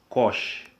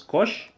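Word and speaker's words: cosh: two we have Kos this one is pronounced as Kos you pronounce this one as Co all right so we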